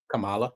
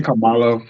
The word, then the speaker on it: Kamala: just not learned but I just realized the pronunciation of a name Kamala Kamala I've been saying Camala for years and apparently Donald Trump said Cala and everybody got upset and I said to